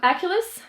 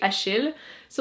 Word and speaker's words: Achilles: Is that how you say it in English? I hate whenever a name is different in different languages. It's so annoying. In French, you say Achille. So like Achilles is just weird.